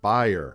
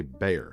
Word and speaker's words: Bayer: the next company is buyer as David says it and as I think they say in Germany although for the aspirin brand here in the US we say Bayer so maybe I've been